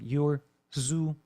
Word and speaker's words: Urzua: I know that's a weird last name to pronounce. You can do like Urzua, kind of like that.